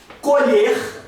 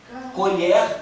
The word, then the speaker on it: colher: Colher. Colher com ó, com e fechado. Colher. Vou colher a minha safra de arroz. É um verbo colher com e aberto.